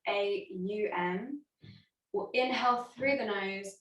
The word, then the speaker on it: Om: sound of on so it's spelt o m but it's pronounced more like the sound a um will inhale through the